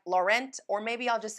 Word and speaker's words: Laurent: and say it like Laurent or maybe I'll just say lauron the English version of how it should kind of somewhat be in French so that's what we're